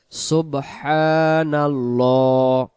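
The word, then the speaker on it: سُبْحَانَ اللَّهِ: সুবহানাল্লাহ, সুবহানাল্লাহ, ল উচ্চারণ হবে, লা উচ্চারণ হবে না।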